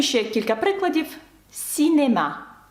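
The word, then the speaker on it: cinéma: «Сінема», як бачите, це не носовий, бо далі йде голосна. «Сінема», чи таке слово як «ен», бачите, тут саме читається без носового, бо далі йде «е», «ен».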